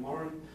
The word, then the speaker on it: Moran: the Moran Group or the Moran Group, they pronounce their name Moran.